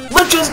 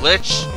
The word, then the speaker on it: Lich: Liches get stitches! If you get attacked by Lich, what is it? It rhymes with bitch.